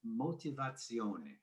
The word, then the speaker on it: motivazione: And in Italy, it's pronounced motivazione.